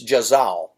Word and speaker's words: Zhaoze: It's Zhaoze. Well, ZH is J. J. Okay. So we'll say Jen. Zhaoze. Oze. Oze. Okay, it's Jazal.